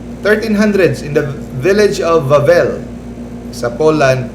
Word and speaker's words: Wawel: Next, 1300s, in the village of Wawel sa Poland, ang pag-pronounce nila sa W, V, Wawel, Volkswagen.